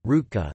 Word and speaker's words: Ružička: Leopold Ružička, Croatian pronunciation, Rutka, the 13th of September 1887 to the 26th